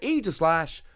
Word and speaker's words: Aegislash: So in at number 4, I'm going to put Aegislash. And yes, that is the correct pronunciation.